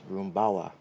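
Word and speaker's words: Rumbao: Here's Joseph Roomawa. The extra hitter. Now batting extra hitter number five, Joseph Rooma. So that is spelled R U M B AO, but he did emphasize his pronunciation was Roomawa.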